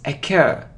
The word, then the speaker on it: occur: It isn't occur or occur, it's occur. It's occur. It's like a and cur, occur.